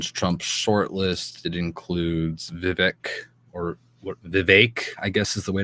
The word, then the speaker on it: Vivek: One of them was, of course, Vivek Ramaswamy.